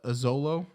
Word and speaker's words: Xolo: so in short name this is just a zolo it's xolo yes it's x-o-l-o but the whole